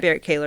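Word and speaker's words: Berrett-Koehler: So when I think I pronounced it wrong initially, Barrett Kaler? Barrett Kaler. Barrett Kaler is how you say it.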